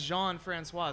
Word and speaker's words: Jean-François: introduced himself as Ricky jean-françois so then I was pronouncing a tricky jean-françois for a while lady for the time after that then it was brought to my attention that is Jean Francois so you just got